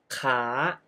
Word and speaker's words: ค้า: ลูก ค้า ขา ประจำ Oh you pronounce ค้า Which means to Trade with the high Tone ขา ขา and ขา Meaning Leg With The Rising Tone ขา ขา Well You can hear that คา and ขา can pronounce similarly but They Have different tones That indicate different meanings So Be careful This